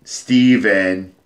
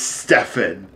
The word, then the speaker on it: Stefan: guy, Kate and Steven, they say in the game, but it's spelled fucking Stefan. So they would always say Steven, and I'm, like, playing the game, I'm like, Stefan. Shut up, Stefan. It's Stefan. Damn it.